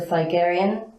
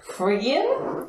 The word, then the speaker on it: Phrygian: Magna Mater, from Roman mythology, which was the Phigarian. I might not be pronouncing that particularly well. I think you've been watching Game of Thrones too much. I was going to say that then. Phrygian?